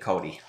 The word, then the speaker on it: Cody: yeah send it back how come there's an X in your name um Cody would have sounded dumb we are pronouncing it Cody dude when I first